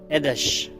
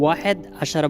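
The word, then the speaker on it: أحد عشر: 11, এদেশ। এদেশ বা এদেশার। কেউ কেউ ওয়াহেদ আশারা বলেন, আসলে এটা সঠিক না, এদেশ।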